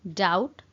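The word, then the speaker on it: doubt: आ कहती आई डाउट यू। आई डाउट you. Eighty गोटे जिनसे नोटिस करिवे फ्रेंड्स, बी अच्छी बट बी टा प्रोनाउंस कला बेले साइलेंट हो जाए, तो सेति पय आमे पढू डाउट।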